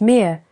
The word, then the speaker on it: Mutter: In German, Vater, pronounced Vater, and Mutter, pronounced Mir, and so on in many other languages.